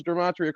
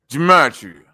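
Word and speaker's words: gematria: You can't even pronounce dramatia correctly, but you teach it." Gamatria. Like, come on now. talk about germs. You saying germs on the low, brother. You ain't saying gamatria.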